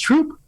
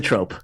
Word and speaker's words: trope: Question one, is it pronounced troop? And if not, question two, what is a trope? All right, it's pronounced trope, and a trope is a thing that's used constantly.